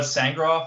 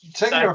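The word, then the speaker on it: Sagendorf: Bud Sangroff, the guy who took over for him? Segendorf. Segendorf actually.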